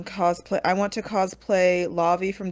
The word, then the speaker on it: Lavi: spell that name? Is it Alavi? Lavi, yeah.